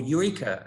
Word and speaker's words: Your E-Car: so ben fleetwood from eureka tell us a little bit about you and and your eco or eureka as as it's supposed to be uh that's the one